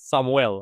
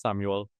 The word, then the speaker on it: Samuel: I always like to pronounce it like this, Samuel, although it's Samuel, depending on who wants to listen.